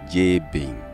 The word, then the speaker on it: Jabin: European so-called equivalent j-a-b-i-n in the European voice that is pronounced J Bing this is why you